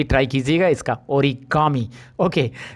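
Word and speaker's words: origami: यहाँ पे आपको इंटरेस्टिंग और है, ये वाला देखिए, ऑरिगामी, ये मुझे बोलना है, okay. Now आई गॉट the correct pronunciation. यार कैसे नाम रखते हैं, आप भी ट्राई कीजिएगा इसका, ओरिगामी, ओके।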